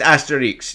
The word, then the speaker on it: Asterix: It might be a silent X. I don't know. I don't know. Because I don't want to say it wrong, but I've heard it pronounced both ways. I think they say the X. No, because it's Obelix. Really? Yeah, they say the Yeah. X. Asterix.